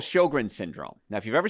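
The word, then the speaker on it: Sjögren: sign of immune system problems there's something called sjogren's syndrome now if you've ever seen it spelled it's s-j-o-g-r-e-n it's pronounced sjogren and your immune system dries up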